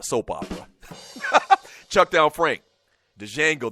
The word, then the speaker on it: Django: Chuck Down Frank, Django, the D is silent, white boy.